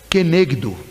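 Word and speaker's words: כנגדו: A primeira, a pronúncia em hebraico seria Izer, e a segunda é Kenegdo.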